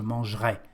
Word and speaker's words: mangerai: Or, when we speak, we say je mangerai. We don't pronounce the letter I.